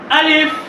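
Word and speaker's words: ألف: সময় তাড়াতাড়ি পড়তে হবে দুইটা হরফ উচ্চারণ করার সময় তাড়াতাড়ি হয় একটা হচ্ছে আলিফ আরেকটা হচ্ছে হামজা এই দুইটা হরফ যখন উচ্চারণ করা হবে তখন তাড়াতাড়ি উচ্চারণ করতে হবে আবার আমার সাথে বলেন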